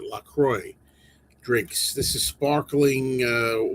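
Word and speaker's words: LaCroix: That's I I looked it up to make sure that's how you pronounce it. Lacroy drinks.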